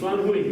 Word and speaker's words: Fan Hui: And they invited, in 2015, October, they invited this man, Fan Hui. I think I'm pronouncing his name right. Actually, I don't know if I'm pronouncing his name right. What? Fan Hui.